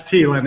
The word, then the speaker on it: Thielen: Yeah, it's Thielen. H is silent.